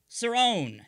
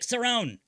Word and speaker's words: Cerrone: is a catcher Rick Cerrone and yes I was told the inter the the pronunciation of that last name I thought it was Cerrone but I know it is Cerrone Rick sarone a 1980s catcher representing the